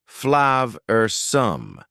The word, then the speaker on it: flavorsome: Notice the pronunciation. Two schwa sounds there. Flav-er-some.